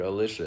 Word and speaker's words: Alicia: And yes, I'm pronouncing it Alicia.